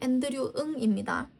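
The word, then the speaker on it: Andrew Ng: 앤드류 이거이 사람 이름 어떻게 할게? 응이라고 했습니다. 어이 없죠. 응. 하잖아.이 사람 이름 앤드류 응입니다.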